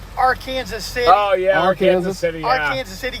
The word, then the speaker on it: Arkansas City: were talking about ark city yeah it's actually pronounced our kansas city oh yeah our kansas city kansas city kansas